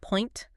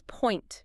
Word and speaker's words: point: It is not point. And it is not point. It is point. You have to glide from one vowel to the other.